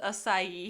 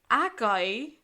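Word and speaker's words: açaí: the Mist with and he mispronounces acai here Akai and Goji berries I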